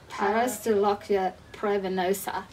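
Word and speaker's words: Pararistolochia praevenosa: It is Parastolochia pravinosa.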